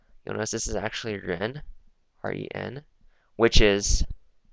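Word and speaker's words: 人: Like this on the left side, you'll notice this is actually ren, R-E-N, which is right here.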